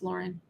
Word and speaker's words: Lauren: It's Lauren.